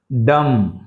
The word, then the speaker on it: dumb: టామ క్లైం క్లైం క్ ల క్ల ఐమ క్లైం డం డం బి సైలెంట్ సో ఇందులో సిక్స్త్ వన్ లో